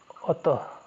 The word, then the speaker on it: अतः: विसर्ग जो है आपका ये बिंदु ये जो है उच्चारण में आपको ह की तरह उच्चारित होगा। जिसे हम बोलते हैं अतः अतः ह का उच्चारण हो रहा है।